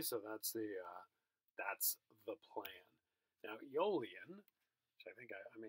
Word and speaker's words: Aeolian: So Aeolian processes are connected to Aeolus, this Greek wind god. That's why you have that silent A there.